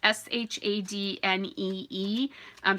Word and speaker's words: Shadney: Yeah, Shadney. It's Shadnee.